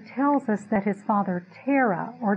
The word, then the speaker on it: Terah: Joshua 24 2 tells us that his father Terah or tarik has it's pronounced in Hebrew the father of Avraham served